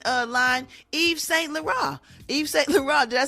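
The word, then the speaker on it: Yves Saint Laurent: on the fashion uh line Eve St La Eve St La did I say it right Gary y y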